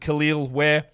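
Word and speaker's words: Kel'el Ware: two number 14 is Superman kalal pronounces it khil where for the heat I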